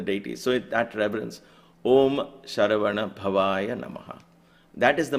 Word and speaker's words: Sharavana: Above the S, there is a stroke, so it becomes sh, not s. Sha, ra, va, na, bha, va. Sharavana bhavaya namaha.